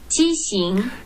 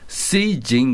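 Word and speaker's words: 畸形: 자, 발음을 한번 들어볼게요. 지싱. 지싱이라고 하죠. 지싱. 지싱. 이게 이제 표준어예요. 근데 이 동백 지방에 가면 이거를 쓰이징 그랬어요. 그러니까 수정하고 비슷한 발음인데 쓰이징 그랬어요. 쓰이징.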